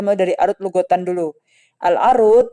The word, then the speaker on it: العروض: Al-arut ya bifatil ain a, jadinya a bacanya pakai fathah. Jadi bukan urut, bukan irut gitu ya. Pakainya bifatil ain, arut.